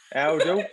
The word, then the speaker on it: Oundle: Is it Aldle? Aldle. Yeah, there we go.